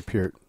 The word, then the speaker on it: Peart: Yeah, Peart. Because of sitting on this side of the thing. We had another drummer on, and he's like, no, you got to say Peart.